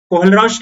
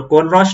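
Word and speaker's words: Kohlrausch: 2 marks की बात करें तो state कोहलरॉश लॉ and right, पता नहीं इसको अच्छे से क्या प्रोनाउंस करते हैं, चलो कोहलरॉश लॉ ही होगा, and right mathematical expression of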